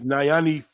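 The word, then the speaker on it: Niani: Her name is Nayani Finlayson.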